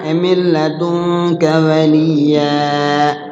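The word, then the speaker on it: مِنْ لَدُنْكَ: Cara bacanya di lamnya itu di huruf idghamnya jangan lama-lama. Enggak boleh lama-lama. Ya, milladunka sultana milladunka waliya.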